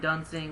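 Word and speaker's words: Duensing: number four we got Brian duning if I'm if I I pronouncing it correctly yeah that's correct Brian duning was was a terrific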